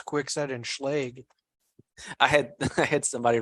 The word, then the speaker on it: Schlage: say where another locksmith pronounced it schledge I've heard yeah according to Bob Dix it's Schlage because it's German but who knows Walter